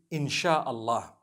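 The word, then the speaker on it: insya-Allah: a they pronounce it they pronounce the s y the way we pronounce sh so they they can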